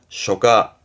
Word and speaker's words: 書架: 책꽂이를 말하는 서가의 가짜 발음은 쇼가.